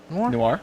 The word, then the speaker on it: Noir: Noir.